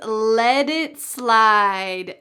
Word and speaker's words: let it slide: The third everyday expression is let it slide. Notice the pronunciation at the end of the word let. That t changes to a d.